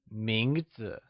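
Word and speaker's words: 名字: word name translates to mingzhu let's look at its pronunciation mingzhu is pronounced with the mid rising tone let's hear you say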